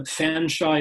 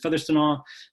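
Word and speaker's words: Featherstonhaugh: papers of the person whose name was pronounced George William Fanshawe in the period. I believe the current descendant up there in Albany pronounces it Featherstonaw again.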